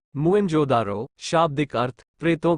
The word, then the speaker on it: मोहनजोदड़ो: पंजाब का हड़प्पा तथा सिंध का मोहनजोदड़ो मूल उच्चारण मुं जोदारो शाब्दिक अर्थ प्रेतों का